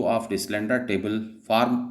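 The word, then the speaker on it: Deslandres: ए भी कई जगहों पर कई किताबों में लिखा गया, लेकिन मैं इसीलिए ठीक कर रहा हूँ, डिसलैंड्रा। ये स्पेलिंग है DESLANDRE, डिसलैंड्रे टेबल।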